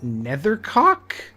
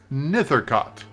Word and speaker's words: Nethercott: sorry did you say his name is richard nethercock nithercott it's it's on your screen it's it's your